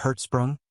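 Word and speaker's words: Hertzsprung: by Danish astronomer edner herzsprung pronounced in herzsprung observations of Polaris since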